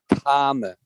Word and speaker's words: karma: That's why I think it's really important for pronunciation, because I'm not talking about kamma, as the Thais use the word gum, or gamma, as often they would say in Pali, but the word is karma, which is, you're probably familiar with the Kama Sutra.